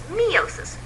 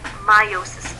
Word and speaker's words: meiosis: very similar you may also have heard people pronounce meiosis as meosis we've been guilty of that but technically if you look up the pronunciation meiosis is the correct one so we'll stick with